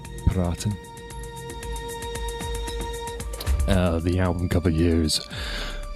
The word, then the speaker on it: EPiraten: Um it's um it comes from the uh German for um advice paraten. So it's shortened from Adel Vice. So if you would want to say it correctly, it's a paratin.